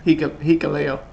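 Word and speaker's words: Hikuleo: hoping, and I still hope, because they had Hikolo, or however you pronounce his name. Hikaleo.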